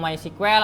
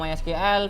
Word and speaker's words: MySQL: banget tapi yang jelas cara baca my SQL tuh ada yang ngomong my squel ada yang ngomong my SQL bebas ya tapi yang penting kalau